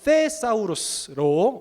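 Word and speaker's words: θησαυρός: 여기서 쌓다라는 것은 헬라어 테사우루스로 어떤 의미를 갖냐면요, th 발음인데요, 테사우루스, 그야말로 보관하다, 저장하다라는 의미를 갖고 있어요.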